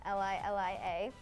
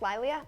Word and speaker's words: Lilia: Instagram is just louia Li Li a record that username exactly I was like thank you still people say it wrong they're like my Lea like not quite um Lilia then I go follow